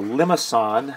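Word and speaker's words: limaçon: like a a heart the limasan that's how you pronounce that uh again that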